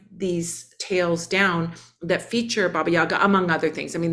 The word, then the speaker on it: Baba Yaga: in these stories and Baba Yaga is the is the Russian pronunciation but what we find